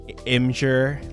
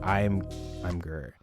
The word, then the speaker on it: Imgur: Okay, if I'm pronouncing what you said correctly, that's how I pronounce it too. I just wasn't sure if people say like Imgur, like image.